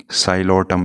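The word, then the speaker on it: Psilotum: First one है Rhynia और second one है साइलोटम, यहाँ पे बी पी क्या है? साइलेंट है।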